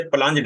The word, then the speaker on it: plunged: लफ्ज प्लंग्ड नहीं है, वैसे प्लंज्ड है ये लफ्ज।